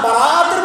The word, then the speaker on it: বারাআত: সব রাত, বারাত আমাদের উচ্চারণে ভুল করি আমরা বরাত বলি, বরাত।